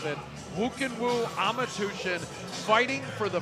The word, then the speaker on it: Khuukhenkhuu: one is a tongue-twister doesn't look like you can woo it all but that's how you pronounce it who can woo ama tution fighting for